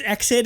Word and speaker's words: EXID: just natural for you there's no like dots in between didn't like sort of indicate that you have to pronounce it like letter by letter so yeah so I